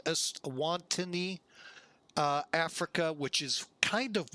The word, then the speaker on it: Eswatini: Eswatini, I believe is how you say this. Eswatini.